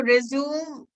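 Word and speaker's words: résumé: सबसे पहले तो रेज्यूम एंड रेज्यूमे में फर्क देखिए.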